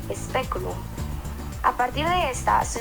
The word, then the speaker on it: speculum: En este caso es la E, speculum.